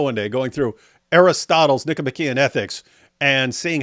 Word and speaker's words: Nicomachean: You said it wrong though. You said Nicomachean. You're supposed to say Nicomachean.